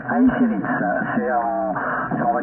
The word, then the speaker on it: Acirits: précis attention faut s'accrocher, je vais épeler. C'est Alpha, India, Charlie, India Roméo, India Tango Sierra, ça se prononce Airit.